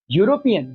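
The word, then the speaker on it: European: यूरोपियन। यहां भी देखिए इ क्या है? वोवेल है। लेकिन साउंड किसकी है? कंसोनेंट की है।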